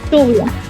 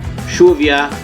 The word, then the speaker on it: lluvia: For example, lluvia. Can you hear that? Lluvia is like you, lluvia. See, that's a sound in Mexican it's Spanish. Like a Y.